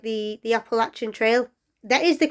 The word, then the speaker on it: Appalachia: If you say Appalachia, I'll throw an Appalache. So it's Appalachia.